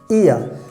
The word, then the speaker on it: ihr: Here you can read IHR, ear.